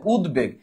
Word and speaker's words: উদ্বেগ: উচ্চারণটা হবে এই দেখো উদ্বেগ এই উদ্বেগ যদি তুমি ভাঙ্গো এই যে উদ এই যে বেগ তার মানে এখানে দ এর উচ্চারণ হয়েছে ব এর উচ্চারণ হয়েছে মানে ব এর উচ্চারণটা